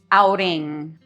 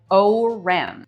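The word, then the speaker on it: Ourém: in which we live of Fatsima and Oring Outing. Aing. Oh, it's really hard to pronounce that. Anyway, it looks like O U R E M, which if you're an English speaker looks like Om, but it is pronounced outing.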